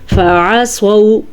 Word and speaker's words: فعصوا: خا، صاد، ضاد، طوا، غین، ضا، یہ وہ 7 حروف ہیں۔ فعصوا رسول ربهم، فعصوا، عین کے تلفظ کا دھیان رکھنا ہے اور صاد کو پر پڑھنا ہے۔ رسول میں را کو